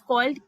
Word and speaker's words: chi: गई है which is called की, जिसको मैंने यहाँ पे CHI से लिखा है, इसका प्रोनाउंसिएशन होता है की, विच मीन्स एनर्जी।